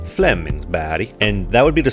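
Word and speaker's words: Flemingsberg: the Stockholm area called Flemingsburg or as the sweds pronounce it Flemings BD and that would be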